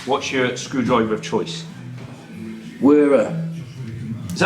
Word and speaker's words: Wera: Wera. Is that how you pronounce it? Wera. I've always wondered. You heard it here first. It's Wera.